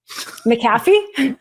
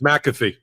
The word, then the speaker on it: McAfee: unwind the guilty plea you have an interesting way of pronouncing the judge's name maffy it's m it's McAfee oh my gosh I